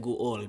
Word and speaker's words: guol: But what happens, because this is 2 vowels in a row, it shows a glottal stop, guol, right?